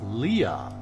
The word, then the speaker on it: Leia: In the original movie, they kept saying Princess Leah. Not Leia. Leah.